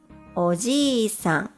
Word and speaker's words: おじいさん: When we add an extra vowel, I, it becomes oji-san, which means a grandfather.